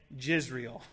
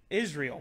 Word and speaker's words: Israel: When we pronounce the name Israel, we don't say Jisrael, right? We say Israel. Why? Because in Hebrew, it's Yod. Why? Not J as in Jehovah, it's Y.